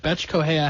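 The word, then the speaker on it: Bethe Correia: Betch Correia had no chance, and that's exactly how you pronounce it. I checked.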